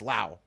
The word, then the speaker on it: Laos: actually silent so it's loud it's a silent s yeah insane right like if you're trying to make fun of how they talk no you no you do not say the S it's loud we were saying it